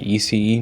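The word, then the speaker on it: ICE: ये होता है ईसीई, मतलब ईसीई इसलिए आप लोग सोच रहे होंगे कि आई को ईसीई क्यों बोल रहे, जर्मनी में आई को ई प्रोनाउंस करते हैं, तो ये है इंटरसिटी एक्सप्रेस।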